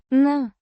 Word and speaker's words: На: Pronounced На. a short, clipped sound, like the na in nation, but shorter.